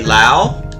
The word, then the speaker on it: Laos: Name the country, that would be Laos. The S is silent.